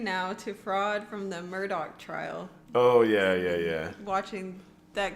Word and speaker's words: Murdaugh: true crime thing, because a lot of people want to say it like it's spelled, which would be Alex Murdaugh. Right. But apparently in South Carolina... that is not how you say it, and people are very passionate about it. So it is Alec Murdoch.